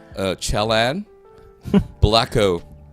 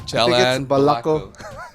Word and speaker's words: Chalan Balako: like straight English, and you're like, Chalan, Blacko. You know, you have to Chalan Blacko. Chalan Balako. Sheesh. Right, can you spell that, sir? Oh, Chalan Balako.